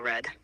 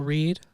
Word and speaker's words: read: way to a table red you mean table read it's pronounced table read not table red that's past tense or a color oh thank you Cade